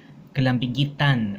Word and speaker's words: kalambigitan: The last stress is on the an ending, kalambigitan. And I should have written the accent, kalambigitan.